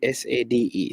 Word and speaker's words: Sade: The last four letters of her first name is Sade, S-A-D-E. So I just call her Sade, just to ensure that I keep the pronunciation right.